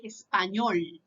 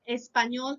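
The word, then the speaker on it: español: you find it okay you say espanol so you pronounce this letter as this espanol can be the language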